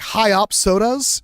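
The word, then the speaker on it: Hyopsodus: It's pronounced like Hyopsodas.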